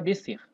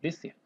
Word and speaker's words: descer: Ou seja, a gente não pronuncia esse Szinho aqui, como se pronunciasse só o C, né?